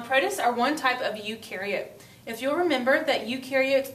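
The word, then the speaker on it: eukaryote: Remember u rhymes with do.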